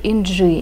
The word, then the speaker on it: Inci: Сегодня расскажу вам о пряже от турецкой фирмы Naka, которая называется Super NG. Именно так правильно произносится это название. Буква вот эта C произносится в турецком как DŽ.